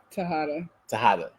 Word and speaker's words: Tejada: then my last name, Tejada, Tejada. It's spelled easily, Tejada, but the pronunciation, y'all. Yeah. It's like the whole Spanish rolling up the tongue type thing.